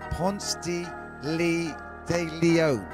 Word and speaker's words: Ponce de Leon: Let me get the pronunciation right, fam. Ponce de Leon.